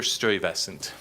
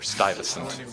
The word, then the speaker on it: Stuyvesant: the answer is Peter stewievesant or Stuyvesant depending on how you pronounce all right um Summit